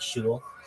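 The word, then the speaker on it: shul: call it Temple within Orthodoxy we call it Shu uh but synagogue is fine to say uh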